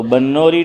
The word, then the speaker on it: بنوری: ادارہ ہے بنوری ٹاؤن، بعض لوگ اس کو بنوری بولتے ہیں لیکن صحیح تلفظ با پر زبر ہے۔ تو بنوری ٹاؤن، اس میں وہاں